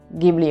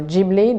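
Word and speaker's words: Ghibli: watch anything by Studio gibli or jibli depending where you are the gibli pronunciation is actually closer to the origin of the word because it comes from Italian but the studio itself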